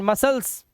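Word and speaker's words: muscles: silent seizures ठीक है सी silent discipline सी silent मसल्स silent न और यहां पर इनकी हिंदी भी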